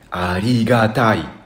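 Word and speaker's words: 有り難い: vita invece di budant scriviamo così e si legge ariga Tai e vuol dire essere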